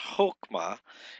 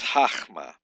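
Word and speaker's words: חָכְמָה: The comments hatuf occurs only in a closed, unaccented syllable, like in the word wisdom, chachma. It's not chokma, it's chachma.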